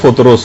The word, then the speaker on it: فطرس: فطرس کا، فطرس۔ اچھا، اس کو الگ الگ طریقوں سے لوگ پکارتے ہیں، لیکن اصل میں اس کا جو تلفظ ہے وہ فطرس ہے۔ اچھا، اس فرشتے کا